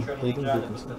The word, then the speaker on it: Hayden Wilkinson: Check my pronunciation. Hayden. Hayden Wilkinson.